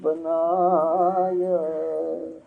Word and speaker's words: बनाया: करोरी कोई सत्संग आज बनाय। करोरी कोई सत्संग आज बनाया। करोरी कोई सत्संग आज बनाया। ಈ ಅಂತ ಸ್ವರ ಇಲ್ಲ, ಅಲ್ಲಿ ಯಾ ಇದೆ ನೋಡು. ಬನ ಯಾ ಇದೆ, ಹೌದೇ? ಮತ್ತೆ ನೀನು ಉಚ್ಚಾರ ಏನಂತು?